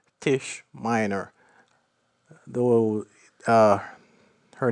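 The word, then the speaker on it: Taije: read the novel but this character is called Tish Miner though uh her name is spelled t-a-i-j-e uh long story for that one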